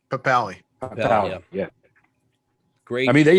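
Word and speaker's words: Papale: Papali.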